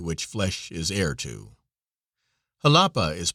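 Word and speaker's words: Jalapa: flesh is air to halapa is pronounced as though it were spelled with an H with a soft sound to the a halapa there are many cotton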